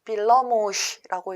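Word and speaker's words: villamos: 트램은 헝가리어로는 빌러모시라고 읽습니다.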